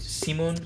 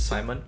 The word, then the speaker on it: Simeon: I find it funny they told you how to how to pronounce it Simeon so that you won't call it Simon.